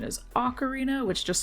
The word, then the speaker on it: Ocarina: Ocarina of Time my brain wants to say okarina so bad but apparently the proper pronunciation is Ocarina which just sounds wrong to me for some